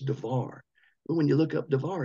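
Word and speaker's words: דבר: the word div now it looks like it's should be pronounced Darbar with a B but in Hebrew it's pronounced with a V so it's darar when you look up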